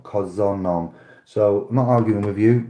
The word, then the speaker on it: köszönöm: of the week yes Hungarian for thank you is pronounced curse the name curse and shut up Wow okay o s O & M I believe it is K o s z o and M cos them nom köszönöm so my argument of